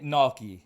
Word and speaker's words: gnocchi: I say gnocchi.